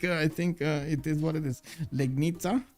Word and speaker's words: Legnica: Legnica. You call it actually Legnica. Oh, because that C, it's actually pronounced Ca. Oh, it's okay. Interesting. Lejenica. Lejenica. That definitely doesn't sound like it looks.